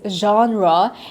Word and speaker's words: genre: very uh interesting word I'd say which is genre and why I say this is interesting is